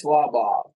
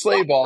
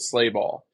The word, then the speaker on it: Slabaugh: it's Luke and then so if you were in Germany right now you'd say it's slaw but it's pronounced I don't know why it's it's pronounced sleigh ball and I guess they came over on the ship they didn't want to sound German so they just made it slay ball like slay ball yeah really so that's how it's like that's the American pronunciation it doesn't make sense